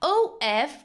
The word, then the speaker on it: of: OF is pronounced as of, but OFF is pronounced as off.